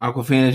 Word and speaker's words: Awkwafina: Yeah, it rhymes. Awkwafina, John Cena, bro.